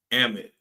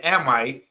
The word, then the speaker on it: Amite: And I wish I could play, the other calls that I received from Amit. Yeah, they told me I keep saying Amite. I know it's Amit, but it's spelled like Amite.